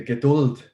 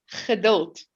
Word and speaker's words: Geduld: Geduld. Yeah, they don't know how to pronounce G's in Afrikaans. They Geduld, instead of Geduld.